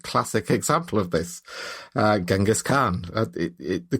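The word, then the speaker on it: Genghis Khan: was the absolute classic example of this uh Genghaskhan. The correct way to pronounce it is Chingish Khan.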